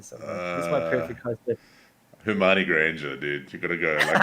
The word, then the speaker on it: Hermione: How do you say it? Is it Hermione or Hermione? Hermione with an N. Hermione. Yeah. Hermione. I've been saying it wrong for like ever.